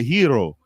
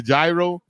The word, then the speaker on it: gyro: they can cook what's it called we always mispronounce it it's called a hero we call it the gyro it's called the hero that shouldn't be fired